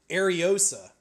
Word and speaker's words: Ariosa: Oh, they have a pronunciation here. Ariosa.